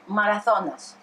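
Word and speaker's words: Μαραθώνας: Marathonas.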